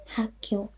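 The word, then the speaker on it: 학교: And so it's pronounced Hakyo. Be nice. I'm still practicing my pronunciation too, but let's write the romanized version here. So basically this K becomes tense or stronger.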